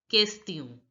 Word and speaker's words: question: Now look, the here this word is pronounced as kest, kest, and I you already know is pronounced as e, and on is a nasal sound which is pronounced as o. So break the word and understand. Kest, this is pronounced as kest, e, o. So it becomes question.